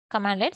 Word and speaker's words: cmdlet: Developers and DevOps and IT professionals can execute commands called commandlets or pronounced as commandlets, that is CMDlets.